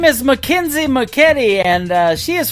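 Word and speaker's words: Mackynsie: Her name is spelled M A C K Y N S I E. McKenzie McKetti.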